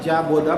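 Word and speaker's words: Jean Bodin: एक स्टेटमेंट आता है कि एक फ्रेंच इकोनॉमिस्ट था जॉन बोदा ना, जीन गोडीन जिसको हम कहते हैं और जॉन बोदा प्रोनाउंस करते हैं।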